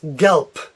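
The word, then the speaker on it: gelb: letter R excuse me this word yellow is Yelp Yelp it sounds like a P although it ends with a B it sounds like a P Yelp and this word is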